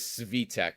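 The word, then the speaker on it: Svitek: The correct pronunciation of your Yes, it is Cvveette with the emphasis on the first syllable.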